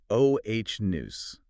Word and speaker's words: onus: Moving to responsibility, we have onus, pronounced oh h noose.